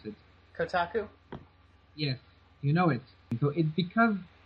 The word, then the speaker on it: Kotaku: it had gone it had gotten featured in Kaku you know the website Kaku Kaku I don't know how you pronounce it Kotaku yes you know it so it's because it